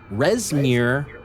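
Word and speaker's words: Rezmir: right everything must be freighted North to narar resir R EZ m IR allowed us to keep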